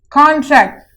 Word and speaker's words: contract: In nouns, we have the emphasis on C-O-N, the con here. And in verb, we have emphasis on tract here, which is in verb category.